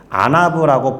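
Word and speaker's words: ענו: 됩니다 그런데 온유함으로 번역된 단어는 히브리어로 이처럼 생겼습니다 아나브라고 발음이 되는 히브리어인데이 단어를 언제 쓰느냐 하면 고대 시대에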